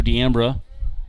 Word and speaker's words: D'Ambra: I didn't know how to pronounce it. Nobody did. He's so new, so I had to go find him in the outfield before the game. He was running laps out there in left field, and Luke Bay yells over, D'Ambra, and he's like, yep, D'Ambra. I was like, okay, just want to make sure I say it right.